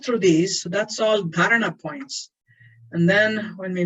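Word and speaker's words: धारणा: The single point of awareness is dharana. Dharana. Say dharana. I'm not going to let you alone until you get the pronunciation.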